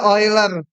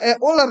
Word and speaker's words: Euler: Bacanya Euler. Jangan dibaca Euler, nanti datang loh udah mati orangnya.